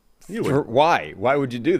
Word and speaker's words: Ewan: Spell it? E-U-A-N. Yeah, Ewan. Oh, Ewan, of course. Yeah. Juan. that's how you. Yeah. I replaced the E with a J. Yeah. And made it a Hispanic name, Juan.